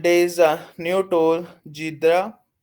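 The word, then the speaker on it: Ghidra: Tools commonly used in CTFs, Wireshark, Bubsfeed, Metasploit, and there is a new tool, Jidra. तो basically इसको गिदरा भी बोलते हैं, pronunciations different करते हैं।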